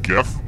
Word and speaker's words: GIF: I stand for in GIF and yes I pronounce it with the G sound not the J who said this